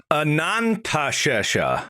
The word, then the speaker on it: Anantashesha: Let me make sure I'm pronouncing that right. Anantashesha.